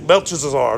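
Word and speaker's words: Belteshazzar: chesazar that one that's Daniel's name and Babylonian belches are that's how you say it that's a lot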